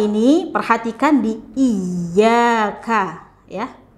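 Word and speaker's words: إِيَّاكَ: Di ayat 5 ini perhatikan di iyyaka, ya. Perhatikan di huruf ya, dia ada tasydidnya di huruf ya. Nah, tasydid ini dibacanya hurufnya ditekan gitu, ya. Iyyaka, iyyaka, tapi tidak dibaca dengan panjang.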